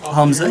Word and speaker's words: Hamza: Hamza, however you pronounce that. Hamza.